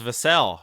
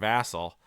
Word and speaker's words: Vassell: I always thought it was Vassell, but it's actually Vassal. It's pronounced Vassal.